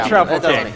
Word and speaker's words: Troupple King: Is his name the Troupple King, or how do you pronounce that?